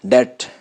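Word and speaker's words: debt: इसके अलावा एक और बात मैंने बीच में बताई है कि टी से पहले भी अगर बी आ जाए तो बी साइलेंट होगा, जैसा कि यहाँ डेट, डाउट, डेप्ट नहीं पढ़ना, डेट, डाउट।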